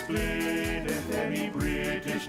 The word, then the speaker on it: Blidworth: For in Oldham the locals say Upham, to the natives of Blidworth it's Blid.